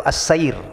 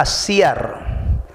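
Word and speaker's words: السير: santun jangan nih ya jangan salah membacanya kadang-kadang ada yang membaca itu Acer tulisannya Persis Sama persis yang benar itulah asyiar karena ini adalah bentuk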